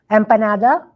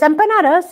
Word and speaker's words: empanada: Empanada. What is that? Oh, it's empanadas.